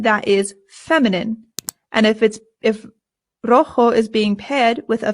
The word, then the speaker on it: rojo: Our next one is rojo. Rojo. Rojo. Remember that the J makes a h sound.